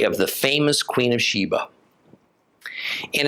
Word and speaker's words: Sheba: a sheen that is we should give the first letter of her name the sound of an s not of an Sh thus she was the